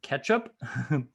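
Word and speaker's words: k3sup: up real fast there's k3 sup pronounced ketchup k3s up that can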